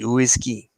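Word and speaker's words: uisce: the gallic Irish spelling for whiskey but yeah pronounce whiskey oisy and that's it and it was just a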